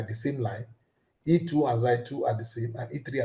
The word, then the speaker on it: xi: The pronunciation of this is xi, xi 1, xi 2, xi 3.